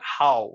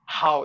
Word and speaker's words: how: Like, how. They don't say how, they say ho. Ho. I mean, they don't just close their mouth. I mean, it's like ho.